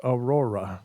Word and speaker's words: Aurora: Pronounced Aurora. Yeah, that's how it's pronounced. They put A-roar-UH.